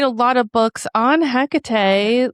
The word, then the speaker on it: Hecate: Well, you write a lot of books on Hecate, like how were you called to work with